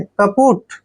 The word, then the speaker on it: kaput: देखिए, के का उच्चारण हम कै करते हैं, पी को पै पढ़ते हैं, और यू को की मात्रा पढ़ते हैं, और टी को टे। कपुट।